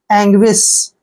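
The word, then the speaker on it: anguish: यू आई एस एच ए का उच्चारण हम ए करेंगे एन को आधा न पढ़ेंगे जी देखिए जी का उच्चारण ग करते हैं ठीक है और यहां पर यू आई आया है ना जब भी यू आई इकट्ठा आता है तो वहां पर व का उच्चारण करते हैं तो यू आई को व ई और व ई पढ़ेंगे और एस एच को श पढ़ेंगे एंग्विश एंग्विश एंग्विश नहीं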